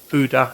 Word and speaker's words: Gouda: cheese so i'm using gouda cheese or huda as it's actually pronounced if used to get